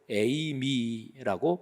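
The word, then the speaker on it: εἰμί: 무엇 무엇이다 이렇게 하는게 헬라어 동사로 에이미라고 발음합니다 에이미 근데 요게 한 단어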